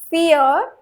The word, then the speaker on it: vier: Fear, just like the English word fear, F-E-A-R.